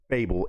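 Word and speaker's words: Fabvl: But the one and only Fable Fab Vl is how you spell it but pronounced Fable is back on the channel thanks to the one and only V aka Vassel today.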